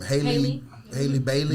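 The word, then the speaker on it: Halle Bailey: How you pronounce her name? Haley Bailey.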